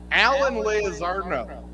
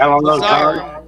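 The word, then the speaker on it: Allen Lazard: Okay, well, the Jets today signed Alan Lazarno. Or how do you say it? Alan Lazard.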